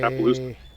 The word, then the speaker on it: Appaloosa: Appeloso. Appeloso? Is that how you say it? A-P-P-A. Appaloosa.